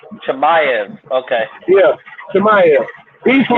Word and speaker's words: Chimaev: How you pronounce his name, DJ? Khamzat Chimaev. Chimaev.